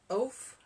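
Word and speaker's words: ouphe: Men and women who survived this long were sometimes called O-U-P-H-E, oaf, which is where we got the word oaf.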